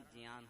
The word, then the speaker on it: ज्ञान: को * बोलते हैं कहीं उस शब्द को ज्ञान बोला जाता है का सही उच्चारण जियान है तो मैं जब